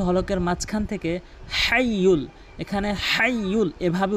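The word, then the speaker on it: الحي: এখানে হাইয়ুল কাইয়্যুম বলে, হাইয়ুল কাইয়্যুম বলে। এখানে বড় হা হিসাবে হাটি হলকের মাঝখান থেকে হাইয়ুল, এখানে হাইয়ুল এভাবে উচ্চারণ করতে হবে। হাইয়ুল বড় হা হলকের মাঝখান থেকে, আমার সাথে প্র্যাকটিস করবেন।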